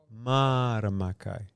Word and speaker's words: Mārama Kai: Am I pronouncing that? Mārama Kai.